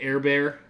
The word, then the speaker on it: Herbert: So I think Herbert, I call him the Air Bear because of his French pronunciation.